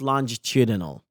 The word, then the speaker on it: longitudinal: Harvard's grant study and other that this word is pronounced longitudinal, longitudinal, longitudinal.